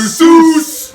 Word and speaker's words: Seuss: Written and illustrated by his boy, Dr. Seuss! Pronounced Soyce.